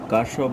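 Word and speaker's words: Kirchhoff: দেন পরের যে টপিক আছে এই টপিকটা হলো অত্যন্ত ইম্পর্টেন্ট, সেটা হলো কারশফ বিজ্ঞানী বা বিজ্ঞানী কিরশফ, উচ্চারণ অনেকভাবে করতে পারে, সে তড়িৎ প্রবাহ সম্পর্কিত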